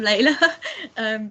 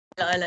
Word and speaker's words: Layla: I'm Layla, but a lot of people call me Lila. It's fine.